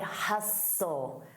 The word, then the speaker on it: hustle: And notice that pronunciation, side hustle, hustle. The T is silent, side hustle.